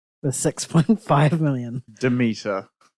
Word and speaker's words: Demeter: And Dracula, The Last Voyage of the Dementor with 6.5 million. Demeter. Oh, did I say Dementor?